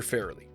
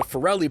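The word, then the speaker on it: Farrelly: Bobby and Peter Fairley. And yes, even though I personally called them the Flli Brothers for years, that is how you pronounce their last name.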